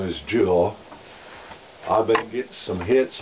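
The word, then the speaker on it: Jule: That's a jewel. J-U-L-E. It's spelled like a mule. Only same way, only with a J.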